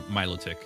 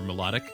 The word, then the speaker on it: Milotic: I say Milotic as in saying Milo. Yeah. I don't know. I don't know. Like, I don't know. I've been like going more towards Melodic or something. I say Milotic every now and then,